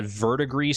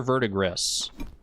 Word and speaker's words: verdigris: Is it verdigris or verdigris? Or are both pronunciations acceptable? I think I want to say verdigris. Like vertigo. Verdigris. Like the French word for gray.